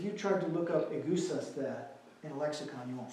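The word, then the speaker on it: ἐγεύσασθε: Can anybody pronounce that Greek word? I was just working on the goose us there. Say again? The goose us there? Only it's egusaste.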